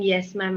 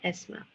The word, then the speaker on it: yes ma'am: for you okay so you have to practice saying yes ma'am and not s ma'am okay huh so I